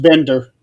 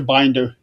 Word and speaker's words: Binder: Uh Chris Binder, Nick, correction, he his his last name is actually pronounced Bender.